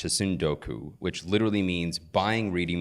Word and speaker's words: tsundoku: There's a word in Japanese that I think is pronounced tsundoku, which literally means buying reading materials and piling